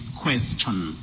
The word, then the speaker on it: question: Anyway, we say question, congestion, digestion, and suggestion.